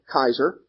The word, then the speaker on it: Caesar: Actually, the Latin pronunciation of Caesar was more like Kaiser.